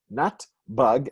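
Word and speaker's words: נתב״ג: You wouldn't know where you're going if you're looking for Natbag, because but we pronounce it as an acronym, as if it were Natbug, and it's the acronym for Nimal, port, Te'ufa, which is air travel, flying, Ben Gurion.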